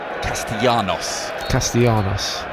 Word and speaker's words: Castellanos: Castellanos is apparently the pronunciation. He is a Argentine.